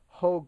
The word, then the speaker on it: Hogue: I mean, it's comfortable, but not as comfortable as my Hogue grip.